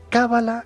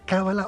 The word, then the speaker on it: cábala: buenas noches Pedro es cábala con el acento en la primera vocal cábala o cala a ver